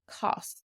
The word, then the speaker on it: cas: And as you can hear from the pronunciation this short a is more like an oh, cos.